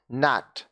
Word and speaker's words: gnat: देखिए GNAT, यहाँ पे जी साइलेंट है। नैट मतलब क्या होता है?